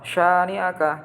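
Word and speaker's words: شَانِئَكَ: Cara membaca lafal syani'aka. Coba kita lihat tulisan yang benar mana. Oke. Yang benar adalah ini. B. Kenapa A salah? A bacanya pendek, ini sya itu dibaca panjang.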